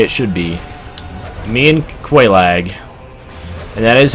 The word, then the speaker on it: Quelaag: Me and Quelaag. And that is how you pronounce her name.